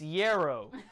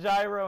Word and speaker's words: yarrow: It's Yarrow. The word is Yarrow, not Gyro and Gyro. The word is Yarrow, like Yarrow. Y-E-R-O, Yarrow.